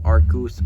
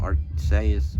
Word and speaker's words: Arceus: wrap up Gen 4 we have Arceus or yeah whatever you want to call him Arcus arches Arceus Arceus is probably the right pronunciation pronunciation my bad but